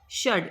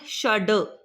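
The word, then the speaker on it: षड्: षडवादनम 6:00 बज गए षड ए note not षड इट्स षड क्योंकि नीचे इसके हलंत है तो हलंत जहां पे लग जाए वो वर्ण का उच्चारण आधा होता है।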